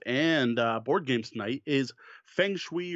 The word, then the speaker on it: Feng Shui: board games tonight is feng shui or Fung Shui or however you want to pronounce it I'm just gonna go with thanks we and yes I know that's the Americanized pronunciation by Robin Delos a